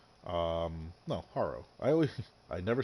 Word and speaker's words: Harrow: Harrow. No, Harrow.